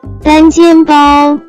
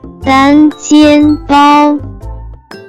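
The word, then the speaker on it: 单肩包: Next vocabulary that we have is one shoulder bag, which in Chinese can be pronounced as 单肩包单肩包单肩包 Let's break down it to understand it even more.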